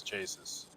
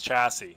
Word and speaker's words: chassis: It's just his chases, his chassis. Sorry. I keep pronouncing I keep mispronouncing that.